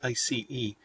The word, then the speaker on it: IC: It's pronounced ICE, but spelled IC.